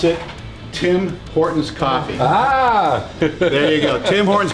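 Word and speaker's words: Tim Hortons: so you how do you pronounce that we pronounce it tim horton's there you go tim horn's coffee the ultimate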